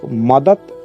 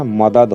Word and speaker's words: मदद: देते हैं जैसे पर यह लोग मदत उच्चारण करते हैं और लिखते समय भी मदद लिखते हैं जबकि सही उच्चारण मदद होता है उसी प्रकार यदि विरांगना